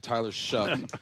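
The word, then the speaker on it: Tyler Shough: Tyler Shuck over there.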